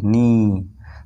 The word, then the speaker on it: know: যেমন KNEE নি, এটা কিন্তু কে এর উচ্চারণ হচ্ছে না, কে বাদ দিলেই কিন্তু আমাদের উচ্চারণটা বের হয়ে আসছে NEE নি।